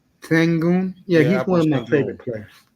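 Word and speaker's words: Şengün: I think And yeah, I can you mean pronounce Jokic his name for isn't me, please? Jokic isn't athletic, but Sangoon. Sengun.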